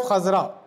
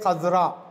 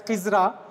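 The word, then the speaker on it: خضراء: Khazra'u means green, but we have to identify the gender of khazra. Like we say gumbad as gumbade khazra. Khazra is the correct pronunciation. Many people pronounce the word as khizra. Khizra is incorrect, not correct.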